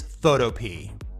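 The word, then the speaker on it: Photopea: runner-up spot coming in at number two is photo P many people pronounce it photopia the developer says it's photo P so that's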